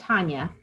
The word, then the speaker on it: Hania: Hi, yeah, it's pronounced Hanya.